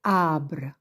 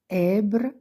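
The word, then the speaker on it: ابر: on met jamais l'accent donc comme ça on devine on sait que ce mot c'est abbre et non pas abre ni obbre c'est Arre nuage là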